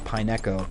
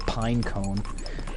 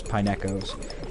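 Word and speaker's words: Pineco: to do on a Pineo which for the longest time I mispronounced and called pine cone like the as if the Pokemon company would have zero originality and just call something that looks like a pine cone exactly that a pine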